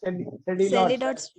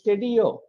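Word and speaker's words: Sédillot: Even though it is actually written as Sedilot. It is not that is not the pronunciation. It is a French name. So it is Sedio. Actually, it is a RUE. His full name is Rose Sedio. That is the way it should be pronounced because it's a French name. Even though you write the spelling as Sedilots, it is pronounced as Sedio's triangle. Here, this LL is silent there.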